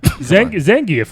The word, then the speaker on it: Zangief: Zangief was Russian.